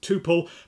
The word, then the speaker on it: tuple: Not that it matters at all, I call it a tuple because I say quintuple, though you will hear